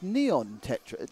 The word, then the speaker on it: Neon Tetra: of a it nice neon tetra it's not Nonet it's Neon Tetra like one of them